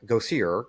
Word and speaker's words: Gosier: So we have with us tonight Gosier, correct? Yes, correct. Go see her.